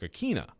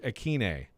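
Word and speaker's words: Ikhine: butchered i mean like not everybody says westbrook akina but apparently that was wrong anyway so westbrook aquine i still if you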